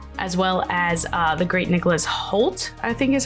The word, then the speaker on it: Nicholas Hoult: other than Dracula, as well as the great Nicholas Hoult, I think is how you say it?